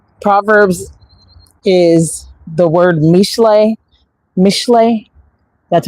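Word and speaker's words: משלי: It's called Proverbs is the word mishle.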